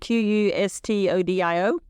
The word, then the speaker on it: Qustodio: It looks like Qustodio. It's Q-U, it's not even E in it, Qustodio.